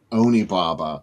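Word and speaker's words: Onibaba: Hey, let's look at some pics that AC Nicholas sent of uh this is the screening of Oni Baba. Is that how you pronounce it?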